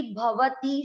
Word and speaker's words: भवती: नहीं कर रहे थे, इसलिए ध्यान रखना है अक्षर चाहे कहीं पर भी हो, अगर पूरा है तो उसमें अ मिक्स करना है। भवती, भवती, यहाँ पर अ छूटे भवती पढ़ते हैं आप इसको।